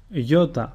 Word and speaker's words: Iota: Iota, which is pronounced E, and a sample word is Iulios, which means July.